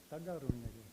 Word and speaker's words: Tekaroniake: Okay, like a hard G. Daga Runyage.